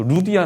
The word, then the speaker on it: 리디아: 여러분들 성경에 보면 그 루디아 나오지 않습니까? 루디아. 그러니까 루디아는 이름이 아니죠. 그러니까 이 리디아 왕국, 고대에 굉장히 강성했던 리디아 왕국의 출신 여인 리디아입니다. 리디아, 루디아로 불리우지만 원래 발음은 리디아가 되겠죠. 그러니까 사실 우리가 지금 쓰고